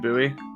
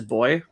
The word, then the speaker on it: buoy: to talking to Americans I'm pretty sure the British pronunciation is boy okay sure synonymous with